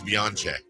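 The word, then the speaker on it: Beyoncé: Happy birthday 56 today, guys, to Beyonce. Is that how you say it? Beyonce. No. It's Italian. It's Beyonce. Beyonce.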